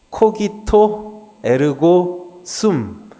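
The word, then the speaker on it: cogito ergo sum: 라틴어로 한번 읽어볼까요? 코기토 에르고 숨. 그냥 발음 나름대로 읽으면 돼요. 라틴어는 독일어처럼. 영어는 발음이 좀 이상하지만 저거는 그대로 읽으면 됩니다.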